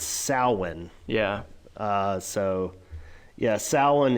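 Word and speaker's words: Samhain: what What's it called Josh it's not called Sam Hayne yeah it's yeah everybody pronounces the same hey but it's it's it's weird it's sowin yeah uh so yeah Salin is this Festival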